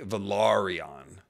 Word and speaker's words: Velaryon: When I speak of House Velaryon of the Seahorse, I say Velaryon to distinct. So even if I say Valyrian, Velaryon is different. And it's more English sounding, and that's how they say it on the show, Velaryon.